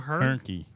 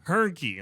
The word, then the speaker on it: Hernke: Hernke. Hernke.